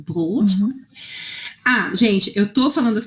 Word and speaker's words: Brot: Então, eu tenho ich, Dschungel, Brot. Aqui, notem que tem 2 pontos, que significa que esse O é longo, né? Brot, also Brot.